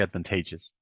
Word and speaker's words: advantageous: previous classes right but just know that H this one is always T this one you cannot omit if you're remember that's because this is the stressed syllable so you always say advantageous advantageous advant say advantageous right exactly all right uh